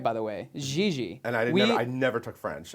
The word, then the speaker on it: Gigi: he still slips once in a while, and we're like, Eric, it's Gigi. It's the G. Yeah, our dialect coach has been. Oh, you do have one. Oh yeah, Gigi. absolutely. Gigi, absolutely.